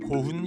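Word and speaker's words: 古墳: 전방 후원부는 일본 전역에서 발견되고 있는데 3세기에서 6세기 사이 이런 고분들이 많이 만들어졌다고 해서 이 시기를 고분 시대 또는 고분의 일본어 발음을 딴 고훈 시대라 부른다.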